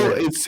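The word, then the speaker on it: cepelinai: Well, Zeppelin. it's if you want to call it in a more Lithuanian way, you call it Zeppelini, Zeppelin.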